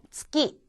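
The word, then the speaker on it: つき: 그래서 츠키. 달. 첫 음으로 지금 츠가 쓰였는데 이때 츠키라든가 츠키 하는 식으로 발음하지 마시고 그냥 파열되는 대로 그대로 나누시면 좀 더 자연스럽습니다.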